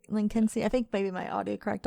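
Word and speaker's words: Lynskey: Melanie Lindsay? Is it just Lindsay? No, it's not Lindsay. It's like Lincolnsey. Lincolnsey? Okay. Like Lincolnsey.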